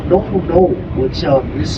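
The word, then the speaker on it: Nounou: of the year 2026 or was it 2126 no no no I'm just kidding no no no 2026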